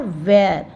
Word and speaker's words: wear: डब्लू ई ए आर वेर य की य का साउंड हम थोड़ा कम बोलेंगे लेकिन हम लिखेंगे हिंदी